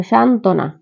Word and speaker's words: সান্ত্বনা: দেখো যে যুক্ত যুক্ত যুক্ত ব্যঞ্জনের সাথে ব ফলা থাকলে ব ফলা উচ্চারিত হবে না যেমন দেখো সান্ত্বনা সান্ত্বনা এখানে হবে তাহলে